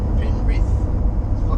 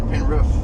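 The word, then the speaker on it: Penrith: just realized something too the way Google Maps pronounces pen pen R it's weird it's actually pen Ruth with double F but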